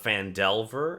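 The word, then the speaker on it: Phandelver: I did it because I realized I started associating mine and then delving into a mind.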